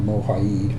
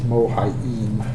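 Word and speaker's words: Mohiam: pronouncing her name late i keep saying mohai'd but it's mohayin okay the beast's total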